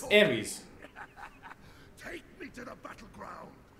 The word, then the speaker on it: Ares: It's Ares. Take me to the battleground. Sounds like Aerie. No. Well, it's how it's pronounced.